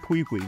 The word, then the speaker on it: Pui Pui: Pui Pui, that's how you say his name.